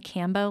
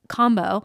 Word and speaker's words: Kambo: know what it is I kept saying Cambo like Rambo but combo sessions in Costa Rica and he